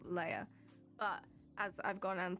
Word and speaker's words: Leah: yeah and same here a lot of people just go with for everything that's l e um